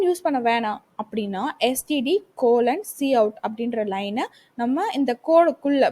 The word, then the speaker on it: cout: இதை cout, இதை coutன்னு pronounce பண்ணணும்.